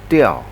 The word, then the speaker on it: 调: up the music, then it should pronounce it Diao, and that's why that TTS is correct.